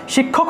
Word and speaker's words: শিক্ষা: তারপরে দেখুন শিক্ষা, শিক্ষা একটা শব্দ আছে, শিক্ষা, এই যে শিক্ষা শব্দটা আছে, শিক্ষা শব্দটাকে আমরা সংস্কৃতে কীভাবে উচ্চারণ করব, উচ্চারণটা হবে শিক্ষা, শিক্ষা, শিক্ষা, ঠিক আছে? যা দেখবেন যারা হিন্দিতে, হিন্দি ভাষায় কথা বলে, তারা কিন্তু শিক্ষা না বলে শিক্ষা বলে, ঠিক আছে?